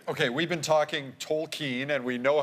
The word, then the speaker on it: Tolkien: detective Pikachu gets right okay we've been talking tole keen and we know how to say it now